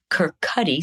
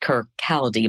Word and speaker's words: Kirkcaldy: So for a single mother in Kirkcaldy, Scotland, typically looked like it's pronounced Kirkcaldy, but I've been corrected by many a Scot that Kirkcaldy is how we say that.